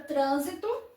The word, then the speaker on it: trânsito: Ela tem 3 sílabas, não é isso? 3 sílabas. E ela tem acento na antepenúltima sílaba. Aqui está a última, a penúltima e a antepenúltima. Então, a sílaba tônica é a antepenúltima.